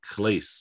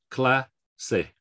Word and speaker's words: clase: things so i know if we saw this as an english word we might think it's like clase or something like that i don't know what we'd say classic we pronounce every syllable this is two syllables cla say i'm not sure why